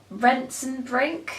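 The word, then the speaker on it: Rentzenbrink: the last act of love by Cathy rent rents and brink and that's how you pronounce that I read this last year at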